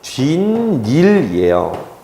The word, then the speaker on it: 뒷일: 자, 뒷일은요, 뒤 그 다음에 더하기 2일이에요. 그런데 우선 야요 요요이의 2이기 때문에 여기 니은이 붙어요. 그 다음에 뒤에 을이기 때문에 시옷이 붙어요. 그런데 시옷은 그냥 발음이 안 되고 디귿으로 바뀌어요. 그런데 디귿 니은은요, 만나면 니은 니은으로 바뀌어요. 비음화 때문에. 그래서 최종적인 발음은 뒷일이에요.